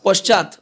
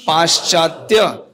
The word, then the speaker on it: পাশ্চাত্য: পাশ্চাত্য, হ্যাঁ পশ্চাৎ, অনেকের পশ্চাৎ, পশ্চিম না, এসব ভুল উচ্চারণ। কি উচ্চারণ হবে? পাশ্চাত্য দেশ তারিণে।